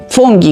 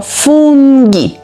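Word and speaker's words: funghi: zaczynamy od kulinaria dzisiaj dalej fungi fungi grzybki grzyby pamiętacie g wymawiamy jak g nie nie f tylko fungi numer To jest częsta płacach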